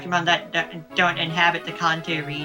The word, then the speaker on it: Kanto: that don't inhabit the Contour region Kanto chho as it would be pronounced in Japanese as in the conto region cont country something is yeah the kto region just in Japanese the first region